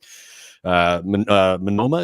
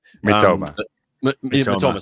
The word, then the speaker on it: Mitoma: Obviously, Minoma, is that how you say it? Mitoma.